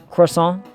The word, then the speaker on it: croissant: it like the French croissant H cuz you know you got to you drop one of the s's you drop the I you drop the the T you barely even say